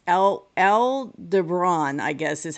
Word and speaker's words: Aldebaran: we had the and I want to say Alderon. I know that's not how you say it, but as a Star Wars fan, I keep wanting to call it Alderon.